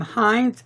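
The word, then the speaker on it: Hinze: first custom pin maker Jim Hines H I n ze and that's how to pronounce the last night and he's going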